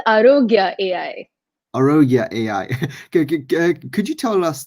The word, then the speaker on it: Aarogya: and today we have praty the ceo of ayuruga am i pronouncing that right it's arogya arroga could you tell us the vision and